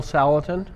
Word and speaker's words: Salatin: With Salatin, am I pronouncing that right? Salatin This style? is Joel Salatin.